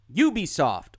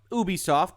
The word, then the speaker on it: Ubisoft: And today we are once again going to talk about Ubisoft, or Ubisoft, depending on your preferred pronunciation of the company. I am told both are acceptable.